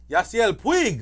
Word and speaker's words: Yasiel Puig: Yasiel Puig.